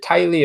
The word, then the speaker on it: Tiley: Is it Tiley or Teely? How do you say his name? Tile. Tiley.